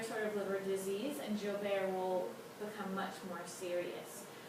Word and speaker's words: Joubert: This is actually my husband, and he does have a recessive genetic disease called Joubert syndrome is how it's pronounced, which can affect the liver.